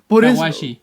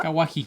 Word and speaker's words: Kawaji: Kawashi. Por eso no hablo más de cosas que pasaron en Japón. A Ryuko Kawaji, Kawaji, si ustedes lo quieren pronunciar bien en su casita, Kawaji.